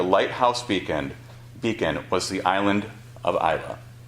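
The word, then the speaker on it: Islay: beacon beacon was the island of Iowa spelled i-s-l-a-y so you might hear people call it Isley or Isley but it's pronounced Isla the island of Iowa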